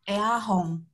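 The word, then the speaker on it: イヤホン: bahasa Inggris juga yaitu iahong Iong atau Kadang orang Jepang itu membacanya eahong eong eahong atau iahong eahong tu sama saja kunci kunci rumah Kunci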